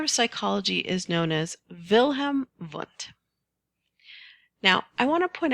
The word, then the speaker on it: Wilhelm Wundt: Google Earth fun fact the letter W is pronounced as a v in the German language so the father of psychology is known as vilhm V now I want to